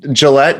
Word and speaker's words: Gillette: you did you did so it's Gillette just like the razor so it's it's pretty pretty simple no relation but uh it is Gillette yep you got it